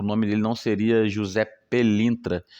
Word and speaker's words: Pelintra: que tinha som de F com som de P, e acabou sendo passado aí como Felintra, Felintra, Pelintra, e foi-se, conforme esse